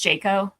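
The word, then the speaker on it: JCAHO: their name it was the acronym was JCO pronounced Jac before but the branding was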